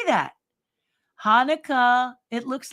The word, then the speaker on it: Hanukkah: in um yes look at Bob's doing his Hanukkah shmonica to everyone who's Jewish Merry Christmas to everyone who's uh is that I didn't say shmonica that's wrong how do I say that Hanukkah it looks like shma anyway to everyone who's